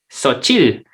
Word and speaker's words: xóchitl: son los totopos que se llaman socheat técnicamente pero ellos te enseñan que se pronuncia soft chile xóchitl y atrás tenemos que en inglés para los que hablan inglés aquí diría shows en show crist show y xóchitl como ellos lo pronuncian entonces que quiere decir